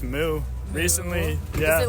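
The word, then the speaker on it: MØ: Or I found out it's pronounced Moo recently.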